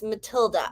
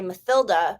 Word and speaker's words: Matilda: is because of phonics i look at her name and i think german pronunciation okay and is matilda german ah and it would be spelled as just like that and see my phonics my phonics kicks in and i want to say mathilda because of the th